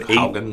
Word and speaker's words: Haugen: Odd Hogan. Odd Hogan. Yeah. Hogan, right? I think so. Hogan. Haugen.